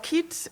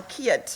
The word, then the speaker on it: Kiet: Firstly, I would like to say thank you to Prof, the DVC, Prof Kit and the team, Kit or Kiet, you know, when it comes to pronunciation and Afrikaans, but I know it's Kit.